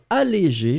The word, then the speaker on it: allégé: So if you've got the accent on your keyboards, obviously and ideally, you should have the accent on the first E. So allégé, allégé should be the way to pronounce it.